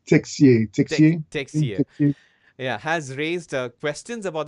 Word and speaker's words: Texier: Am I pronouncing it right? I think it's Texier Texier. Texier.